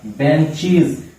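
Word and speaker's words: benches: ठीक है, सी एच बेंच क्या हो जाएगा बेंचीज। आप प्रोनाउंसिएशन पे भी ध्यान दीजिएगा। क्लास क्लासेज, बुश बुशेज, लेकिन बेंच बेंचीज।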